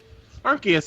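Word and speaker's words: Arceus: Pokemon and that's Arcus araus archus is how it's pronounced in English and therefore that is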